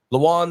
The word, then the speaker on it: Lajuan: are joined here uh if I say your name wrong let me know by uh lean The Alchemist Davis yes sir all right I didn't butcher it I love it was